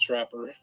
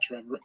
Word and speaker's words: Trapper: them to be honest actually pronounced Trapper name goes Trapper not Trevor oh